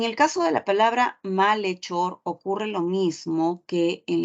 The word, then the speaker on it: malhechor: caso de la palabra malhechor ocurre lo mismo que en la palabra alhaja no lee Ahí está Le malhechor Ok la H no tiene sonido no le presto atención a eso le presto atención a